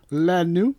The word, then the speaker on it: Lenu: Lenu. Lenu. Lenu. It's like Lenny, but it's got a U instead of the NY that would make it knee on the Lenny. It's not Lenny, it's Lenu.